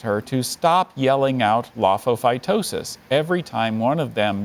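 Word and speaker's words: lophophytosis: friends politely asked her to stop yelling out lofophytosis every time one of them began a why did the chicken cross the road joke can you pronounce the word again sure laphophytosis lofophytosis multiple parts of this word are characteristically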